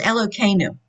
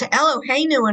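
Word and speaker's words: אלוקינו: It's Elokeinu. Elokeinu. So I've been saying it wrong my whole life, is what you're telling me. No, that word. It's Eloheinu in other places, but it's Elokeinu here.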